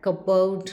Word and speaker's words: cupboard: It is silent in words like cupboard, pneumonia, salem, receipt, etc.